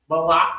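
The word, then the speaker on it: malach: And this malak is not to be mixed up with malak, which means king. That's what the word malak with a soft K is king in Hebrew. Nope, CH. M-A-L-A-C-H. And this is the difference. This malak has a hard cut.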